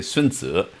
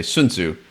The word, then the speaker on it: Sun Tzu: A real wilderness expert will tell you that almost in a Sun Tzu way, perhaps the way that I pronounce it is different from most Westerners. In Chinese, you would say Sun Tzu, but in Western English,